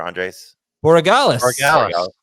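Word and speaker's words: Andrés Borregales: And then, how do you pronounce the Patriots kicker? Andres Borregales.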